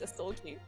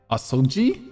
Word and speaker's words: Asogi: It's Asgi. Asoggi. Oh, okay. Asi mispronounced it my entire play for ghee. I did say ghee. I did. Okay. Assult is on the middle.